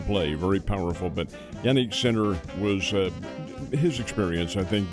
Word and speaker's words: Sinner: That does not involve the number one men's player, Joaquin, and it's Sinner is how he pronounces his name, an Italian player, and he is really, really good.